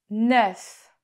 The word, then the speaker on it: œuf: Un œuf. Un œuf. La poule a pondu un œuf. Attention, parce qu'au singulier, on dit un œuf, mais au pluriel, on dit des œufs. Un œuf, des œufs.